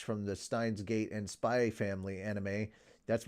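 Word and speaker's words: Spy × Family: the Steins Gate and spy family anime that's right I say spy family not spy X family when you say it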